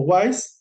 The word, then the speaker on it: Weiss: otros libros por ejemplo de Brian weiss o wise se pronuncia White se te escribe Waze con doble s Brian también tiene mucho